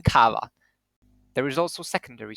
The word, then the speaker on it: kawa: In Polish, primary stress almost always falls on the next to last syllable, as in kawa.